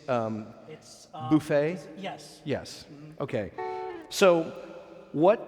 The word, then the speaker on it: Buffett: mr jimmy buffett jimmy buffet yes buffet we're pro pronouncing it the french way because we're a class act here you know we're